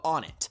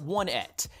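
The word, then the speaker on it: Onett: this kid hails from the town of onet not one ET you guys can complain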